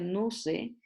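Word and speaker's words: νοῦς: También existe otra palabra griega que se pronuncia nuse y habla de la mente, ¿verdad?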